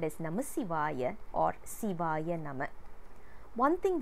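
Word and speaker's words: Namasivaya: it is uttered correctly we are not supposed to pronounce it as namashivaya that is a wrong pronunciation shivaya name is also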